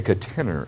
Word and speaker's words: catenary: Louis although that's technically not a parabola I believe that's a catenary or as sometimes said by the English a cat inner a catenary to pronounce that well